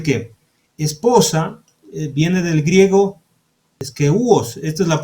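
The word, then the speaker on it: σκεῦος: Es decir que esposa viene del griego eskeuos, esta es la pronunciación, eskeuos, ¿de acuerdo?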